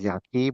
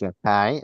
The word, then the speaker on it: Yakai: Some people pronounce him as Yaki, but it's Yakai.